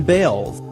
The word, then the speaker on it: Balls: After all, the family did change the pronunciation of their last name from Balls to Bales.